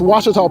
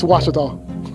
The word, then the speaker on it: Ouachita: How would you pronounce it? Ouachita. Ouachita. It's Ouachita Baptist University. Get it right. It's Ouachita, people. It's Ouachita.